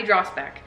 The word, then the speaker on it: Dragsbaek: I really want people to know how to pronounce it. Dragsbaek.